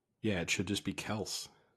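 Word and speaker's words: Kelce: But I don't know if you saw Did you see the news that Travis Kelsece, we've been mispronouncing his last name the entire time? Is it Kelsey? Is it contendant? From what I understand, it's just Kelse is how it's supposed to be said, but we've just been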